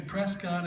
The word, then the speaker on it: Prescott: so beautiful here in Prescott Arizona these Cowboys said it's Prescot I looked down I said well why didn't you spell it like biscuit then beat that oh